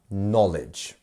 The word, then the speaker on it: knowledge: It's not a Kn, it's just a N.